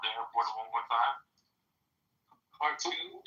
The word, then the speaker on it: Khartoum: of the site in the vicinity of the Khartoum airport. I don't know if that's... Say the name of the airport one more time. Khartoum? It's in Khartoum. Khartoum? Oh, the ancient city of Khartoum. Kartum, I think.